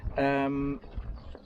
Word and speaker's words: Neatishead: Is that how you pronounce it? Yep, Neatishead.